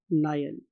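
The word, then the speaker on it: Niel: अब इसके लिए एक साइंटिस्ट था स्टूडेंट्स, उसका नाम था वॉन नायल। आप इसे नील भी बोल सकते हैं, what ever you want to pronounce, no problem at ऑल।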